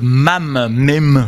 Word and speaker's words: MAME: dans un système de machine virtuelle qui s'appelle MAME, je sais pas comment on prononce à l'anglaise, MAME, M-A-M-E, c'est un Multipurpose